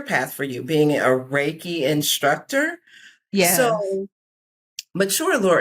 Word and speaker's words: Reiki: It's actually pronounced Reiki. Reiki. See what I'm saying? This is what I'm talking about. Reiki. And the thing is, I think I was pronouncing it before. Reiki.